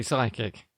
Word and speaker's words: psychic: Yeah, but we don't say psychic, do we? No, See? we say psychic. Yeah, psychic.